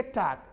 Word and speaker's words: talk: आगे देखिए, तो WL के वाक, वालक नहीं बोलना, TL के टाक, टालक नहीं बोलना, HLP हाफ, हालफ नहीं